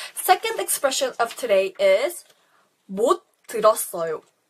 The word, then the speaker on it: 못 들었어요: It doesn't have the strong T sound, but rather it sounds like a S. So this S goes to the next spelling the syllable and it makes a S sound. So it sounds more like 못 들었어요, 써요 with a S.